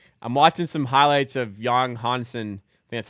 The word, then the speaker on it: Yang Hansen: I'm watching some highlights of Yang Hansen, that's how you say it, playing in summer league last season or preseason last season.